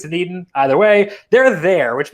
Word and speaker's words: Dunedin: So if you're from Florida, if you've been to spring training, let me know how that's pronounced. I think it's Dunedin.